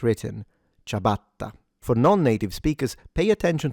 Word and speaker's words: ciabatta: single, as it's written, ciabatta. For non-native speakers, pay attention to the double T, because it's a longer or stronger sound, ciabatta, rather than ciabatta. The I at the beginning is not pronounced.